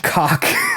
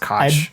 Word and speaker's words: Koch: A deeply flawed ex-lawyer named Don Cock. I'm pretty sure it's pronounced Koch.